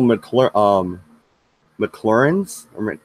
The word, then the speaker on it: McClernand: General McClernand's, how do you say that fucking name? That's not McClellan. McClernand.